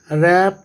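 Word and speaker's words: wrap: इसी तरह से रैप द रेस्ट, W यहाँ पर नहीं पढ़ेंगे, रेस्ट वॉच।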